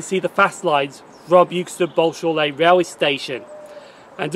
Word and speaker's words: Euxton: that you can see the fast lines from Euxton Balshaw Lane railway station.